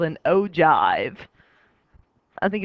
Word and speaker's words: ogive: You get to say the word jive. Plus, it really looks like it'd be ogive, but it's not. It's ogive. And so we talked when we talked about histograms.